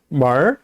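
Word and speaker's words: 门儿: 그 다음에요, 문이라고 할 때 만 해도 되지만 역시 얼자를 붙여서 멀 하고 발음합니다.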